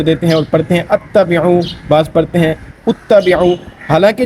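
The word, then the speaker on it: اتَّبِعُوا: تو اس وجہ سے نہ ہی یہ اتبعوا ہے نہ ہی یہ اتبعوا ہے، بلکہ یہ صحیح اس کا جو تلفظ ہے، اس کا اعراب ہے وہ ہے اتبعوا.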